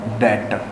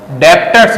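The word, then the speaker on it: debtor: 5वां है देनदार, जिनको बोलते हैं डेटर। डेप्टर्स मत बोलना, डेटर बी साइलेंट है।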